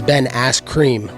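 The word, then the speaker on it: Askren: You said it wrong. It's Ben Ass Cream.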